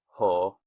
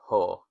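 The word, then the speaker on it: ὁ: but just know that if you see the O with that accent over it, it's going to be ho. Ho legomenos Christos. And I think that's a really cool construction, putting Jesus ho legomenos Christos.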